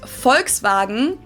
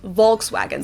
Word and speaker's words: Volkswagen: But even if we did go by the full name, it would be pronounced Folkswagen and not Volkswagen. So just imagine that it was spelled with an F and V instead.